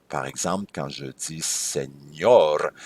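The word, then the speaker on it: señor: exemple quand je dis SEOR si j'avais pas le ti sur le N faudrait prononcer senor mais en réalité un monsieur donc c'est SEOR comme par exemple mon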